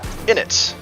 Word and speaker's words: innate: Innate, or innate. Both of those are valid pronunciations, I believe. Mintelfin. Depends on your region, but both of them I think are acceptable. At least I hope so, because